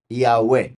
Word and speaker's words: Yahweh: Estas 4 letras, en el caso del nombre del Padre, se pronuncian como vocales, a pesar de ser todas las hebreas consonantes. ¿Ok? Entonces, como he dicho, es I-A-U-E, Yahweh.